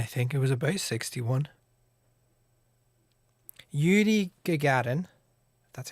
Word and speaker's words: Yuri Gagarin: yuri gagarin that's how you pronounce his name did a p on the